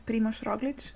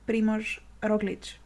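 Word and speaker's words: Primož Roglič: watched your The Move podcast and you were pronouncing the Ana Liambo right or wrong. His name is Primož Roglic and he's from Slovenia and so am I. So repeat after me. Primož Roglic.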